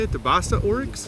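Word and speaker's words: Beisa: The Basa oryx? Besa.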